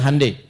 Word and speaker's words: Hyundai: Ya, ya Hyundai saya tahu bahasanya dibacanya Hande.